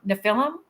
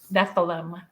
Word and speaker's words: Nephilim: I pronounce a lot of things wrong. Nephilim. The Nephilim. Nephilim.